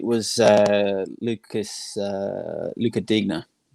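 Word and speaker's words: Digne: uh lucas uh luca digna dean is that brian dean's brother you know what i've never been i always thought with his pronunciation it was this you just silent the uh the g but um yeah look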